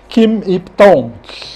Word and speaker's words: Kim Yip Tong: Kim Ip-Tong. Est-ce que je prononce bien le nom?